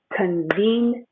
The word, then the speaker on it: convenience: it earlier in class even though i can see four syllables here i'm actually not going to face four syllables this one is a year this is a long e convenient and my stress is here convenient store convenient